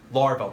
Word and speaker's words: Laravel: So you can say, you know, I haven't used Laravel. Did I pronounce it right? Yep. Okay. So I haven't used Laravel or whatever it is.